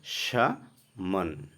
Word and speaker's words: salmon: সামন। এখানে স্পেলিংটা দেখো, SALMON। সালমন হওয়ার দরকার ছিল, কিন্তু এখানে এল উচ্চারণটা তোমাদের সাইলেন্ট থাকবে। তো উচ্চারণটা হবে কি? সামন।